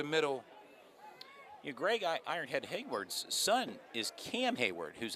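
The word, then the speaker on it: Heyward: right through the middle your gray guy Ironhead hayward's son is Cam Hayward who's a Pittsburgh Steeler were you aware of that day I was not aware of that Hayward played his college ball the Ohio State University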